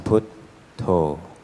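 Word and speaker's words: Buddho: alone just simply reciting put toe put toe put toe put toe put to put to putto is the rather more Thai um uh way of pronouncing the word buo so it means awake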